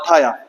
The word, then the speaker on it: thia: ये थाया है, गड़बड़ हो गया यहाँ पर थोड़ा सा, THIA, THIA। ठीक है, यहाँ पर होगी स्पेलिंग जो इसकी है THIA। ठीक है, THSA लिख गया है वो गलत हो गया, THIA, इसको मत लिखना आप।